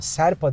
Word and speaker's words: Sherpa: yanlış okuyorsam Kusura bakmayın She rpa serpa diye okunuyor serpa serpa Neyse Bu modda da Klimayı